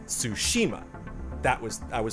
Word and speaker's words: Tsushima: My main thing was the inflection, and that's always like a big thing whenever people try to produce stuff. There's a difference between Tsushima and Tsushima.